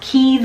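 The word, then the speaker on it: Cay: Bahamas, Nassau, Bahamas, Princess Keys, Bahamas. I know I get a lot of things. It's pronounced Keys by the locals. I think we in the States say K, but it's Princess Key, Half Moon Key.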